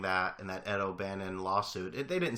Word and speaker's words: O'Bannon: Hey, Mike, before I get to my Yankee point, I'm pretty sure it's pronounced O'Bannon, not O'Banion.